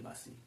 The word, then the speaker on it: वासी: हरि सकल ठोर के वासी वासी लिखा हुआ है ब्रज भाषा है व का व को व का उच्चारण ब की तरह होता है तो वे हरि सकल ठोर के बासी ते गोप से उस